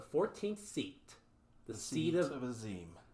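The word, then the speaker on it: Azem: And is a shard of the Asian Azam. Yes. You keep saying the name wrong. That's how I read it. I'm sorry. It's Azim.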